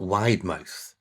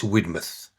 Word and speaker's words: Widemouth: Now it's spelled widemouth and I I I have said widemouth a few times and as you can imagine uh Mrs. has kind of, you know, put me right. It's Widmouth.